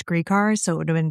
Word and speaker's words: Gricar: And I've known about this case for like years, and I always thought that it was Grycar, and I just recently found out it was Gricar, so it would have been very embarrassing if I mispronounced his name the entire time.